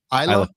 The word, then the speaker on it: Isla: Isla It's pronounced Isla.